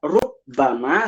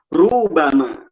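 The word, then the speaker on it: ربما: Alba diringankan membaca bnya tidak rubbama tetapi dibaca rubama rubama pendek nah dibaca rubama Nah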